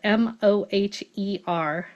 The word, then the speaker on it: Moher: Moher is spelled M-O-H-E-R.